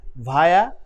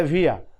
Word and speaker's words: via: across, during, opposite, against, via या via। दोनों तरह से प्रोनाउंस लोग करते हैं। आप भी via या via कर सकते हैं, कोई मिस्टेक नहीं होगा।